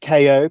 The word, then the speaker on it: Coco: Yeah, so it's actually pronounced K-O, K-O. K-O, As in, K-O. Okay. like knockout, like a knockout.